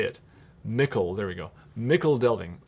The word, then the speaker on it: Michel Delving: how to say it, Mickle, there we go. Mickle Delving. I always want to say Michel Delving. It looks French to me, but no, it's just Mickle.